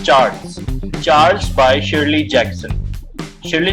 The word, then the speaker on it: Charles: अच्छा, एक चीज़ जो अक्सर लोगों को गलतफहमी होती है कि इसको लोग प्रोनाउंस करते हैं चार्ल्स। इट्स नॉट चार्ल्स, इट्स चार्ल्स।